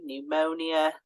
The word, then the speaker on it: pneumonia: and we've got the silent P at the start so psychology pneumonia uh the uh silent a